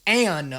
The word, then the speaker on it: Anne: Okay, well, I've been saying her name wrong. That's my first issue. Where is Anne of Cleves from?